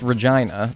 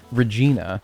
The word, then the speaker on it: Regina: Other than that though, also is it said Regina or is it rhyme with vagina? Because I have heard both of them and I'm like, whoa. Yeah, it is. Okay. It's It's actually pronounced Regina.